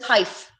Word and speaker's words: Taif: So it's pronounced Taif. Okay, like life, wife, or knife.